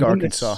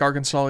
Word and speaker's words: Arkansas: one I don't like Arkansas either you don't like Arkansas don't like the way spelled it's uh it's too close to Kansas but pronounced totally different why this is Kansas